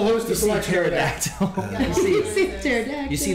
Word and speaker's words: pterodactyl: It's pterodactyl, but it's spelled with a P.